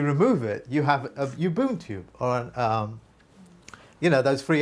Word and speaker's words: Ubuntu: Pronounce it for me, please. Ubuntu. That's it. Ubuntu.